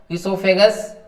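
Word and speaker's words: oesophagus: ठीक है, ओ से भी स्टार्ट हो सकता है, इसोफेगस, इट आल्सो इसोफेगस। ठीक है, तो इसके अंदर ओ साइलेंट रहता है, OESOPHAJUS, और ESO से भी स्टार्ट करते हैं, तो ये इसोफेगस हो जाता है ग्रास नली।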